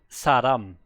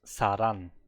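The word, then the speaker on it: 사람: Yeah, but sometimes I had multiple occurrences when the audio sample is wrong, like Saram, person. It was always pronounced as Saran, which is not true, right?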